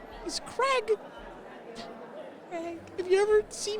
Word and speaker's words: Crag: Crag. Crag. Is it Crag? Like C-R-A-G? Yeah.